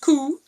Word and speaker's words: cú: In Irish, coo, pronounced coo, means hound or greyhound.